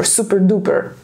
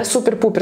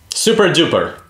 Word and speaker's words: super-duper: А тут на большом пальце класс, какое-нибудь такое прикольное словечко, не знаю, типа super-duper. Кстати, неправильно говорить, да, super-pooper, знаете? Super-duper. Super-duper.